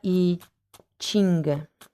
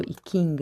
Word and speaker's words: I Ching: Bene ragazzi, ho ancora i Ching o i King, dipende da come li dite, li pronunciate, i Ching dell'amore.